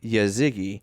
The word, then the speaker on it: Yazgi: I've been mispronouncing that. I feel so bad. I don't feel bad. I was too. But you can hit him on Twitter at Mike _ and it's phonetically Yazigi 94.